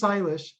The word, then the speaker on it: Shailesh: make it so anyway my name is silash and i what i've noticed after presentations is people will hesitate to talk to me because they can't really pronounce my name very well so so i put this little slider as a way to kind of help you understand it rhymes with stylish so um and i'm